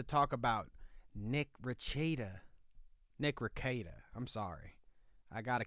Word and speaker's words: Rekieta: about Nick raada okay I've been getting the name wrong this whole time ra rakita is what me and my co-hosts have all been saying but it's raada okay get it right raada which you know sounds